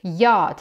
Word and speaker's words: yacht: Yacht, так как они американцы, они используют произношение yacht. Если британцы, то мы говорим yacht.